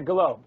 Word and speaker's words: Golob: And we want to say hi to Sherry Golob. Is that how I pronounce her name? Yeah, Golob. Yeah. Okay. Golob. You did it right.